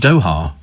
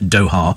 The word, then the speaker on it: Doha: It's pronounced Doha, isn't it? Isn't it? Yeah, that's what I thought it was pronounced Doha. I've always pronounced it Doha, and that's how they pronounce it over there in Doha.